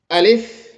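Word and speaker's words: ألف: আলিফ আলিফ আলিফ আলিফ আলিফ আলিফ সম্মানিত দর্শক এ আলিফ উচ্চারণের সময় কোন টান হবে না। মুখের ভিতর থেকে হালকা বাতাস বের হবে।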